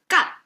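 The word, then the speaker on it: 干: And this is pronounced as gan.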